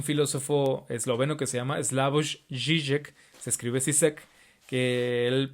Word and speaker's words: Slavoj Žižek: Hay un filósofo esloveno que se llama Slavoj Žižek, se escribe Zizek, que él pues es muy gracioso en la forma de hablar y es una persona completamente brillante.